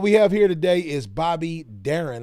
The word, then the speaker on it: Bobby Darin: Anyway, what we have here today is Bobby Darin, I think is the way his name is pronounced.